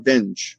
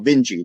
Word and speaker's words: Vinge: 1993, llegamos al tecnólogo, el profesor de matemáticas en la Universidad de San Diego, en California, llamado Bernard Vinge, o Vinci también se puede pronunciar, Bernard Vinge en español, ¿okay?